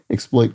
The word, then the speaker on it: exploit: exploit a deed so exploit could be a verb obviously but exploit is um pronounced that way is a noun so something you've accomplished